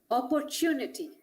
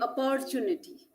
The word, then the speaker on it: opportunity: words so this is opportunity sometimes there i have heard many saying opportunity which is a wrong wrong stress on the wrong syllable so when we learn